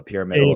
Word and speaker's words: pyramidal: the middle is actually the threshold model the pyramidal is how you say how do you say